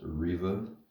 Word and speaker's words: Reva: can see it but yeah her name is pronounced Riva the survander already out of the package or